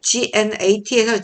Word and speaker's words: gnat: 이 모기가 단어 있죠 gnat에서 g가 발음이 안 되는 거야 묵음이에요 각각이라고 나오는데 무슨 뜻인지